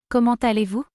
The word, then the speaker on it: comment allez-vous: We say, Comment allez-vous? Comment allez-vous? we do make the liaison between kommen and alley in French.